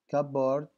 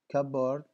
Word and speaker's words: cupboard: In which word is the letter B is silent? لاحظ. Climb, cupboard, comfortable. Cupboard, cupboard, climb, climb.